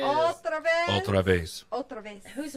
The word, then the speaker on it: otra vez: Ultra vez. Otra vez.